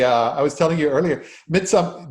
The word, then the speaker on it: Midsumma: I was telling you earlier, Midsumma, did I say it right? Midsumma. That's right, midsummer. I've never, because of the fact that it's written literally the way it sounds.